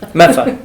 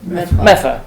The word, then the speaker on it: Medford: Medford, Well, that's a whole other Meffa, Medfa.